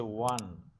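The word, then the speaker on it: won: এটা উচ্চারণটা হচ্ছে ওয়ান, ও এন ই, যেমন আমরা 1 2 3 4 এরকম ওয়ান উচ্চারণ করি, এটা ওয়ান হবে।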